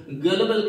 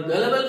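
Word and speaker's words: gullible: तो ऐसे व्यक्ति को गलबल कहते हैं। और गलबल का मतलब ही होता है, गुलिबल इसका प्रोनाउंसिएशन नहीं है, गलबल इसका प्रोनाउंसिएशन है।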